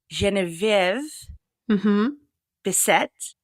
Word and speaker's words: Genevieve Bessette: yes I love thatv betet betet correct genv betet yes welcome to the artist athlete podcast well